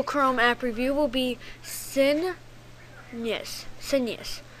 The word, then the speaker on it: Sinuous: so today's Google Chrome app review will be sinus Senus s i n uo u s Senus and that is how it's pronounced so let's just go into it really